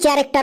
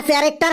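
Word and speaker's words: character: তো কোশ্চেন বুঝতে পারবি কোন কোশ্চেনটা right two চ্যারেক্টার of monkey sir চ্যারেক্টার মানে কি বানানটা বল সি এইচ এ আর এ সি টি ই আর ওটা ক্যারেক্টার হবে না রে ওটা ক্যারেক্টার হবে রাইট টু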